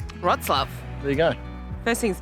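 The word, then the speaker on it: Wrocław: museum of row claw the first thing that we learned was that it's not actually pronounced raw claw frots love rot's love there you go first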